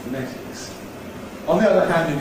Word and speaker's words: phonetics: So people who talk about phonetics all the day weaken that to say /fə/ in the first syllable, /fəˈnetɪks/.